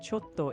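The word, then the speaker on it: ちょっと: You were very close. The phrase is sumimasen, chotto ii desu ka? Chotto meaning a little or a moment. You're doing great. Let's keep going with another phrase next. Yes, I said ocho, didn't I?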